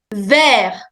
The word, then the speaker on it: vert: Vert. Vert. Vert. Follow my lip movement. Vert. Vert. Green. The last consonant in French is silent. So you say vert. T is silent.